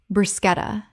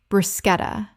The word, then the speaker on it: bruschetta: Word 28, bruschetta. Common mispronunciation, brushetta. Correct pronunciation, bruschetta. The CH makes a K sound in Italian, and this word kept its Italian pronunciation in English.